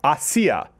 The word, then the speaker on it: Asia: I also had it wrong. Did you hear? It's Asia. Asia. Asia. Asia. Acai bear, yeah. How did we get it? There's only three syllables, and we got them all.